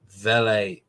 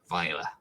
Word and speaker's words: Vejle: Vale, I always get these two. I can't pronounce these two. You're going to tell us which two teams went down automatically, because I never get these two right. Yes, it was Vejle and Sønderjyske. Vejle, that's it.